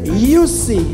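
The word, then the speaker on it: Jussi: C'est Youssi, ça s'écrit J-U-S-S-I.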